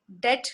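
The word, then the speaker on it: debt: And sometimes in the middle, that det, D-E-B-T, we pronounce it as det.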